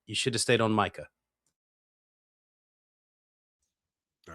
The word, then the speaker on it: Micah: of the apostles to say, is it pronounced Micah or Mikah? Micah.